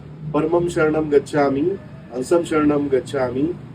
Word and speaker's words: परमम: शक्ति एक्टिवेट नहीं होगी कई लोग परमम को परणम बोल देते हैं कई अद्वैतम को